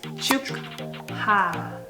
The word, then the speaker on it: 축하: So when you pronounce them together, it sounds like K. 축하. But it's written as 축하.